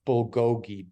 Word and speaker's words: bulgogi: if I can say it right um beef bulgogi b-u-l-g-o-g-i and it's like this shredded beef with